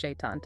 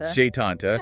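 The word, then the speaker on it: Sétanta: Pronounced Setanta. Setanta.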